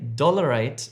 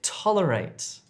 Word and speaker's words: tolerate: Don't say dollarate if you're trying to say tolerate.